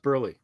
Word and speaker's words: Burleigh: at it's burley it's pronounced burly i say someone whose last name is always mispronounced i feel it it's it's it it's burly burley um yeah